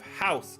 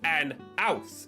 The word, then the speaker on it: house: The reason it says "an house" is because in older English, older modern English, they would actually not pronounce the H at the start of words, because rich people because